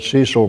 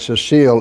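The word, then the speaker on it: Cécile: that one correct because I used to always call it Cecil Bruner, and a good friend of mine, every time I said that, would look at me and glare at me and say, Cecil is a sea serpent. So hopefully you will remember that. Cecile is her name, it's a woman's name, and the original form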